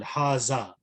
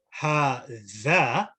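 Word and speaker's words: هذا: So when I say zal, haza, but when I say ha-dha, big difference.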